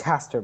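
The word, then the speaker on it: Hastur: It's Haster, by the way.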